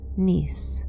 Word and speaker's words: Nice: Nice, spelled as nice, rhymes with Greece.